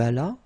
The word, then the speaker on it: allas: J'allais, tu allas, il alla, elle alla, nous allâmes, vous allâtes, ils allèrent, elles allèrent. Okay, so let's see that one more time. J'allais, tu allas, remember final S is not pronounced, il alla, elle alla.